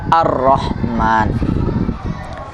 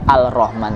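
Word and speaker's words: الرحمن: kalau awam sekali ya mungkin bisa baca Al Rahman tapi kalau yang siswa-siswa kita aja yang baca nggak ada yang baca Al Rahman pasti bacanya ar-rahman langsung kepada tasydidnya nah soal ke-29 Ada berapakah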